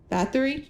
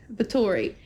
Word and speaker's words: Bathory: Bathory? I'd said it wrong. Bathory.